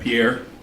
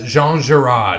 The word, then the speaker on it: Jean Girard: Yeah, Pierre. Oh, it's Jean Girard.